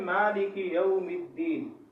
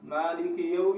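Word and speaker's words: مالك يوم الدين: اس کا صحیح تلفظ کیا ہے؟ مالک یوم الدین، مالک یوم الدین. اس میں جو بعض لوگ غلطی کرتے ہیں مالکی، مالکی، مالکی آپ کرو گے تو وہاں کاف کے ساتھ یا پیدا ہوگی.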